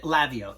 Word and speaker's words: Laveo: So Laveo, L-A-V-E-O, that's how you pronounce it.